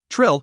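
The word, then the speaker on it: Trylle: Society other than manig Trill pronounced Trill beautiful trolls with powers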